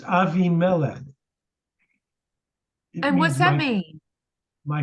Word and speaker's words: Abimelech: Avi Mela AVI or you've heard of abimelech it's a mispronunciation it's Avi melon and what's that mean